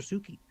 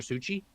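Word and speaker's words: Suchý: When something comes out, it's like, oh, look, it's another Suki. Also, up until about 3 weeks ago, I called him Vladimir Suchi.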